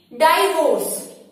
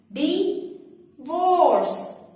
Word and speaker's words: divorce: वो सब इसे क्या कहते हैं? डाइवोर्स। डाइवोर्स रॉन्ग प्रोनाउंसिएशन है। डाइवोर्स नहीं बोलना आपने, इसे सही प्रोनाउंस करना है। आइए मेरे साथ इसे प्रोनाउंस करने की प्रैक्टिस कीजिए। डिवोर्स।